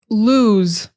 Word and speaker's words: lose: Lose. Lose is a simple word, a simple verb, but it has that hard S, that Z, like a Z.